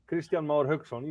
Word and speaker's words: Kristjan Mar Hauksson: How do you pronounce it actually, Kristjan? You can. Kristjan Mar Hauksson.